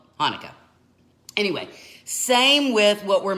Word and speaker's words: Hanukkah: And sometimes the word Hanukkah is spelt with a CH, and it looks like Chanukah, right? But it's still Hanukkah.